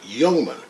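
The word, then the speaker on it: Ljungman: Yungman. It's LJ and it's pronounced Yung like that in Swedish.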